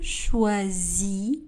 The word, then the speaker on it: choisis: Le S à la fin du verbe ne sera pas prononcé. Je choisis mes habits.